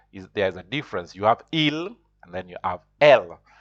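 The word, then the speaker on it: ils: So there's they, masculine, which is il. The S is not pronounced.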